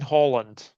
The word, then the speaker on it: Haaland: Manchester United Manchester United I am saying Holland Holland it's just the way you see it Arlene Holland that's how you say it Barcelona kept picky for